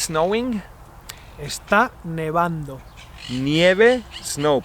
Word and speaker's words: nevando: And if it's snowing, Está nevando. nieve, snow, pero no se dice nievando, se dice Nevando.